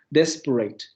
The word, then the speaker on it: desperate: caso, en esta pronunciación, si ustedes revisan la pronunciación inglesa y la pronunciación norteamericana, en ambas se pronuncia con la R. Lo que quiere decir que aquí no hay rotacismo. Ese fonema está funcionando como ataque de la siguiente sílaba.